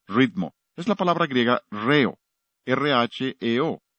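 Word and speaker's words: ῥέω: Es la palabra griega reo, R-H-E-O. La H es el acento en griego, por eso acentuamos la primera sílaba de la palabra ritmo.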